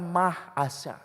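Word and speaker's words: מעשר: bahasa Ibrani perpuluhan persepuluhan ditulis maaser cara bacanya mahas ada tulisannya carara bahasa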